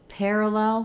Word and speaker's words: parallel: stresses on LEL so I have parallel with stress on pair but in parallelogram it